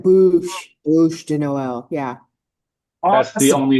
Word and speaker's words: Bûche de Noël: Bûche de Noël. Bûche. Okay. Noel, yeah. Bûche. You have to say it really funny. It's like Bûche de Noël.